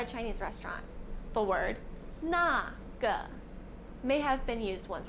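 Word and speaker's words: 那个: The most common way of pronouncing naga, especially for students of Chinese, is with the pinion na and g.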